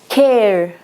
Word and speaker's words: care: se queda acá Face Care aquí camura la e tampoco se lee cambra different esta e